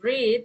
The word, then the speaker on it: read: So the word read oke actually for the present is read and past is red and participle is red. read red.